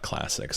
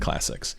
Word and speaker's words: clsx: I pronounce it classics.